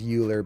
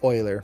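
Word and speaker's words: Euler: So if I now select this and go to curves oiler filter right there, some people pronounce it uler, but it's uh pronounced oiler based off of mathematician.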